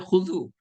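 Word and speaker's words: خضوع: খুযু, খুযু, দ দিয়ে আমি লিখেছি, আসলে দ দিয়ে হয় না উচ্চারণটা, খুযু।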